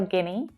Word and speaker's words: Guinea: Now we've already talked about Guinea with Equatorial Guinea. So remember that you don't need to worry about all of the vowel letters here, okay? It's just pronounced Guinea, Guinea.